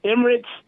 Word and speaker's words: Imran: It's pronounced Emirates, but when I got overseas, I always said Imraj, and the girls was like Imraj. So I was like, okay, let me use that. But it's Emirates, Emirates.